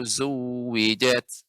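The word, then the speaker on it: zuwwijat: Wa idzan nujumun wa idzan nufusu zuwijat.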